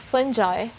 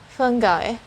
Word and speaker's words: fungi: i hear usually is fungi so you will hear the letter j sound instead of the letter g but there's also another way of pronouncing this which is fungi it's the sound of